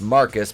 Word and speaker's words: Marcus: Whilst Jada's mischievous children seemingly scheme behind her back, two SUVs quickly pull up and Marquise, pronounced Marcus because he's fucking stupid, is